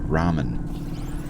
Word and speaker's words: ramen: actor never heard of ramen and when they got the voice lines for this game they never wrote to the person and said hey by the way it's pronounced Ramen that's I don't know